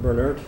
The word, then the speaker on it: Burnett: I think it's pronounced Bernert.